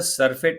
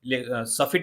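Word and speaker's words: surfeit: कह रहा है अमिड द सरफेट ऑफ, सफिट इसको बोल सकते हो आप, ठीक है, अर्रा को साइलेंट कर दो।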